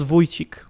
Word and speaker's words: Wojcik: This is a Polish last name. It's pronounced Wojcik.